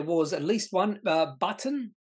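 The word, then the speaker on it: Butn: at least one uh button b-u-t-n I'm assuming that's how you pronounce it trading update had a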